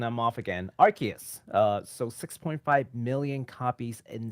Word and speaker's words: Arceus: we just corrected the pronunciation. I'm off again. Arceus.